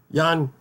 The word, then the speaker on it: Ian: I mean, it's bad enough with Jan, which it's spelled Ian, but it's pronounced Jan.